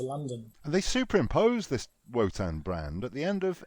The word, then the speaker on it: Wotan: Another unusual thing is that the way they pronounce Wotan, you think it starts with a V.